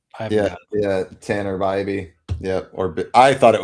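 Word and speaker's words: Bibee: You have to pronounce it wrong for it to. There it is. I Yeah. forgot. Yeah. Tanner Bybee. Yep. Or I thought it was Bibby for the longest time.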